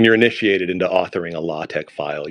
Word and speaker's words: LaTeX: initiated into authoring a latch file you're told that it's pronounced latch but it's spelled latex all right let let's